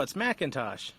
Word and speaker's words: McIntosh: Am I saying it right? No, it's McIntosh.